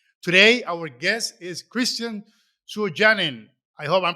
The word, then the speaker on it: Suojanen: In Finnish, it would be Suojanen, but in English, we pretend there's no U and say Sojanen. And in Spanish, it tends to get pronounced pretty consistently as Suojanen.